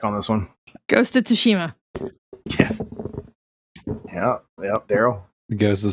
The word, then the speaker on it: Tsushima: Damn, you guys' pronunciation is just driving me up the wall. But yes, it is Ghost of Tsushima.